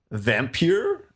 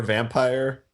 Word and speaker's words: Vampyr: So the game is called Vampyr or Vampire. It's spelled with like a PYR situation.